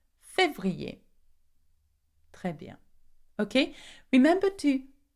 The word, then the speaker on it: février: Quite hard to pronounce. Février. Février.